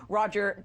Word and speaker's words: Roger: all about it so Robert I said your name incorrectly what does he how do you say you're my name's Roger oh yes you got